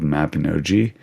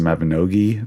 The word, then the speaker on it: Mabinogi: Don't really play Civilization anymore, but I really liked this online game called Mabinogi. It's actually pronounced Mabinogi, but I just say G.